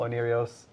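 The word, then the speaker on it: Oneiros: Onirios, I'm pronouncing it correctly, by the way.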